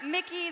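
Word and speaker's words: Mikyx: goodbye to you and let the crowd I cheer think one more G2 time for Broken Blade, for Mickey, the X is silent, stopped and lane G2 swapping Esports winning.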